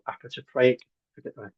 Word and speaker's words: apotropaic: These are called apotropaic, to get the pronunciation right, apotropaic markings, otherwise known as witch markings.